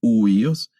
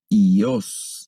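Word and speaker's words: υἱός: Aquí podríamos leer huíos. La lectura correcta deberá ser ios, porque el primer diptongo solo lo vamos a leer como una I.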